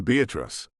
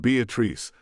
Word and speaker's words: Beatrice: were very backwards because the town wasn't Beatrice, like the normal pronunciation of the name. Nope, whoever had founded the place put the stress on the second syllable.